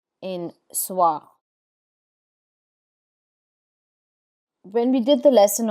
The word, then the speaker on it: soir: Soir, soir, which is evening.